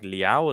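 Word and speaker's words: Leão: off the bench, they've got options like Leao as well. And I know myself and I believe it's Zeke- Leao, just to correct your Leao, okay, fine.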